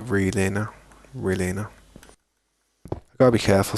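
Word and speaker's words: Relena: Some people say Relina, but I pronounce it Relina.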